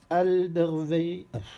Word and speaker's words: Alderweireld: Et Toby Alderweireld, comment on prononce celui-là?